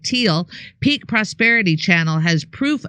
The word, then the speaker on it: Thiel: best wishes to beautiful brilliant Whitney the is pronounced like teal Peak Prosperity channel has proof of two Shooters